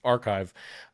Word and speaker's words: arXiv: Beatriz Villarreal submitted her paper to a very large repository where physicists and astronomers share their preprints archive. It's spelled ARXIV.